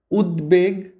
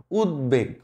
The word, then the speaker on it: উদ্বেগ: উচ্চারণ হচ্ছে খেয়াল করেছো উদ্বেগ উদ্বেগ মানে উৎকণ্ঠা তারপর উদ্বোধন মানে ইনগরেশন বা কোন কিছু ইনগরেট করা এইখানে যখন দ এর সাথে ব ফলা হবে তখন সেটার উচ্চারণ হবে একটা এক্সেপশনাল আছে সেটা